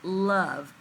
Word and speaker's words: love: Even though it has an E at the end and looks very much like the CVCE, of sounds more like a short U sound and not that long O sound that we need for our second heading.